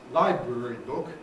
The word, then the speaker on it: library book: an item such as library book, the fall or the rise or whatever has to start on library, because this is a compound, and it therefore has early stress on the first element.